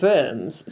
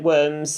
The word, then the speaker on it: Worms: this, the Diet of Worms. So, Worms, which is spelled like worms in English, but it's clearly Worms, is I think it's